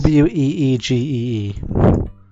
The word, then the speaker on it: Ouija: Weegee. It's spelled O-U. Like the old meme. I-J-A, and you're supposed to pronounce it Ouija.